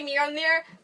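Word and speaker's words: Mjölnir: Technically Mjolnir, but, you know, I pronounce it the Darcy way, which is clearly the correct way.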